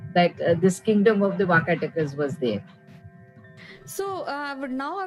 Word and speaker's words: Vakataka: So tell us about this kingdom, Vakatas, if I'm pronouncing correctly. Vakataka. Vakataka is the name.